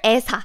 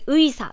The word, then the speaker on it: 의사: But if it's at the beginning of the word, such as like 의사, 의사 means a doctor, it's never 에사, 에사. It's always 의사, 의사.